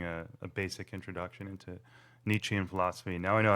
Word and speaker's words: Nietzsche: I certainly don't understand all of it, but it's been a pleasure getting a a basic introduction into Nietzschean philosophy. Now I know how to pronounce it.